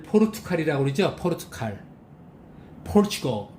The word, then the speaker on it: Portugal: 스트레스 맨 앞에 있습니다. Portugal. 우리는 이 발음을 포르투갈이라고 그러죠? 포르투갈. Portugal.